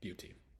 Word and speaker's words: beauty: to pronounce it but if I break it if I were to break it down the B EA EA sound we covered this earlier E and A together it's just a double e sound so EA is just e so b b e a is B and then UT is UT so b ut b ut Beauty beautiful and then last we